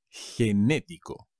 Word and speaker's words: genético: ser generoso genetic genético con un acento en la segunda e genético enormous huge gigante gigante